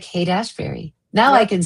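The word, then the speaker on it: Haight-Ashbury: Like Hate Ashberry.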